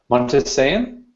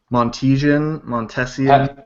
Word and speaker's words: Montesian: she talked about Pat Montesian. Is that how it's pronounced? Montesian. I think it's Montesian, maybe. That's how Matt Booker pronounces it, so I'll go with that.